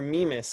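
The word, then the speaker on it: Mimas: cut off my apologies that's amimus or memus i've heard both pronunciations m-i-m-a-s you may have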